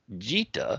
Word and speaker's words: Gita: Yeah, actually, I found out it's pronounced Jita. Jita, my bad. I was saying Gita, and then I did some research and played one of their videos over this.